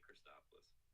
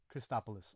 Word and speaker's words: Christopoulos: Well, you're trying to do the Greek accent. Just say Christopoulos. Christopoulos.